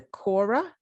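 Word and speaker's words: kora: play i might say this wrong but the quora is that right that is how you pronounce it i don't play the quora i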